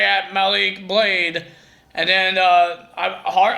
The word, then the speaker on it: Malik Blade: heard joel gaze against how he said his name is malik blade not malik malik blade and